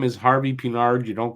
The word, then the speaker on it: Pinard: and he tracked well it's actually Harvey peard it's not Harvey peard you're going to tell me his father's name is John Luke it's Harvey pinard just like it's spelled Cy card make it